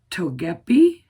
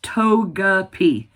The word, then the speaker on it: Togepi: Togeep. It's Togeapi. I got it. I got it. So, we sold uh the Bazaar and Togepi.